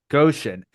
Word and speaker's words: Goshen: Goshen.